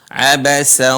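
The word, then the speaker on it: عبس: taala berfirman Abasa wawalla di sini huruf Ain a Abasa wa tawalla seringkiali teman-teman di sini tidak dibaca dengan panjang di huruf terakhir la di situ ada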